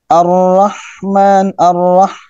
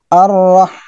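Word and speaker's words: الرحمن: Ar-Rahman. Nah, lagi-lagi haknya ini memiliki sifat hams. Kemudian dari sisi dari sisi syiddah dan rekhwah, dia memiliki sifat rekhwah. Rekhwah itu suaranya mengalir, dan bukan hanya suara tapi napasnya mengalir. Ar-Rah. Kalau ra, itu memiliki sifat takrir. Takrir itu bergetar.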